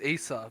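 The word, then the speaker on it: Eisah: most lamest but right my real name is isa but it's spelt e-i-s-a-h yes so all my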